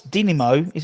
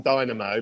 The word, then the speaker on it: Dinamo: We went on to Google pronounce, and it came up saying Dynamo, but no. Yeah, it came up saying Dynamo, but I think it is Dinamo. I think that's how you're supposed to pronounce it.